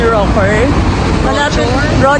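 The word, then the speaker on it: Rochor: India Actually Dito kami nagstay sa hotel 81 rocker R pala daw ang pronounciation dapat lang siya ng MRT and then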